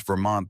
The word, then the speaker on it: Vermont: I taught her how to pronounce Vermont the way locals do, soft on the T.